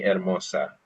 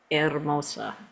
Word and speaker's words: hermosa: Eres muy hermosa. Eres muy hermosa. Maybe we've heard of Hermosa Beach in California, which most people call Hermosa Beach. That's a mispronunciation, right? Because the H's are silent.